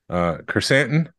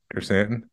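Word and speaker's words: Krrsantan: Kersantan, not Black K. Hey, you said it right. Kersantan.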